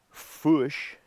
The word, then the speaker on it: Fourche: named by French explorers fush being the French word for fork as in fork in the road as a dividing split and that's where we get the name spell it f o u r c h e the r being silent few fish down there